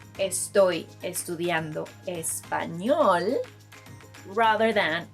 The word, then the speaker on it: español: Say, estoy estudiando español, rather than español. I know, even Will Smith mispronounces the name of the language. Look. Toda la gente habla español. Todos. So remember, it's español rather than español.